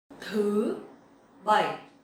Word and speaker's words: thứ bảy: Thứ bảy. Thứ bảy. So this word is a little bit hard to pronounce correctly because it has dấu sắc and dấu hỏi.